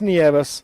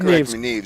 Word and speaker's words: Nieves: His older brother, Jersey, and Jagger have both told me several times, it's Nieves. That's what they want. So that's what I call him. Do you remember the first time I heard that name? That's what I pronounced it was Nieves. And I said Neves.